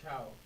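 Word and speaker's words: Chao: contact with the games it's pronounced chiao okay so it's as real in Spanish chiao but they don't become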